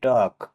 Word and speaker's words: talk: TALK, টক, আলাপ আলোচনা বা আলাপ বা কথাবার্তা, এখানেও এল লেটারটি সাইলেন্ট থাকবে।